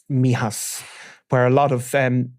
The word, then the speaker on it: Mijas: And um of course it's up in in that part of of is it Mijas that I pronounce it? So where there would have been Mihas where a lot of